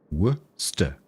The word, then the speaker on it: Worcester: It's really easy to say. Just ignore the spelling. Worster.